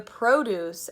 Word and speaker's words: produce: I said produce the produce at Harris Teeter now I'm saying the company will produce or make in this case with this pronunciation it's a verb produce you can also